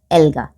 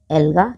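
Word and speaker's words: algae: और एक ग्रुप कौन सा रखा उन्होंने इनका, एल्गा, एल्गा या आप प्रोनाउंसिएशन एल्गे भी कर सकते हो, इन्होंने इसको एल्गे में कर दिया।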